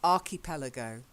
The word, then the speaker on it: archipelago: Then the next one, it's hard K sound, archipelago.